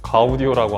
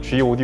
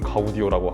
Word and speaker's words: Gaudio: 오디오 록 아닙니다 4 가우디 오라고 하는 그랜드 구요 저는 사실 이거 들었을 때 당연히 지오디 온줄 알았어요 근데 지금 좀 살 물어봤더니 발음은 가우디 오라고 하네요 아우디 어는 이제 마틴